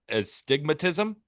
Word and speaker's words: astigmatism: dominance caused by an astigmatism. Stigmatism? Astigmatism. Yeah. That's how you say it.